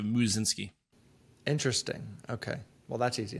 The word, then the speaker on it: Musinski: the name uh people didn't know how to pronounce my last name which is musinski and it's uh so they just call me instead of muzzinski interesting okay well that's